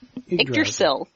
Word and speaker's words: Yggdrasil: It might as well be Yggdrasil, or however you pronounce that. Yggdrasil.